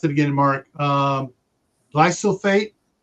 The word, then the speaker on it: glyphosate: Glyphosate. Oh, glypho, like PHO. Glyphosate. There you go.